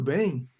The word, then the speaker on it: bem: Tudo bem. Então, when it comes to the pronunciation of bem, it sounds like bam, and say bem, bem.